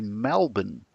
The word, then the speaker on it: Melbourne: My friend picked that I was originally from Melbourne because apparently people from Melbourne don't say Melbourne, they say Melbourne.